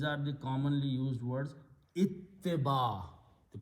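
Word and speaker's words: اتباع: Ittiba. The pronunciation is ittiba.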